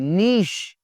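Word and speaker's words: niche: जी, colonel साहब होते हैं जो फौज के अंदर जो कर्नल होते हैं, वो उसके स्पेलिंग्स ये हैं, कर्नल इसको बोलना है। केओस, अफरा तफरी जी, नीश और नीच भी कहते हैं।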